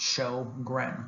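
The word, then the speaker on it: Sjögren: known as sjogren's syndrome so that's pronounced show gren sjogren's syndrome and in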